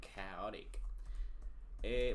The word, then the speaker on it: chaotic: Bueno, hasta donde sé, las pronunciaciones de esta CH pasa porque básicamente vienen derivadas del alemán. Cuando vienen derivadas del alemán se pronuncian como K.